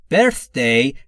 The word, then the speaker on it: birthday: دقت بکنید دوستان در مورد تلفظ TH در birth. زبونتون پشت یا زیر نیش دندون بالا سعی میکنید بگید سه سارا. اینجوری میشه. Birth, birth, birth, birthday. برثدی، برثدی نگفتم ها، ببینید خیلی فرق داره.